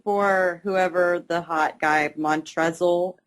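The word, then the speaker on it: Montrezl: whoever the hot guy mon tesle I know it's a silent L but I think it's hilarious that he has an L the guy from Louisville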